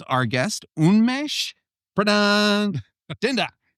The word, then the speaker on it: Unmesh: So I'm so pleased to pronounce our guest, Unmesh Dinda. How are you, my friend? Thank you so much for having me and getting my name across 98% right. 98? Unmesh.